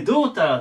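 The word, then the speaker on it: daughter: で最後発音ねダっていう風に始まるんですけど発音はどですドチと言いますドタでドーターでま娘まセット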